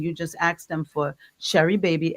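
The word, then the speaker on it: Sheri Baby: So you just go in and you just ask them for Sherry Baby. S H E R I B- A B Y by Sharon Gordon. And it's spelled the same way it sounds, Sharon Cordon.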